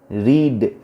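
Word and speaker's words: read: মূল ভার্বের past participle রিড, রিড ভার্বের পাস্ট পার্টিসিপল একই বানান, আর ই এডি রিড, কিন্তু উচ্চারণটা হবে রেড, আর ই এডি রেড।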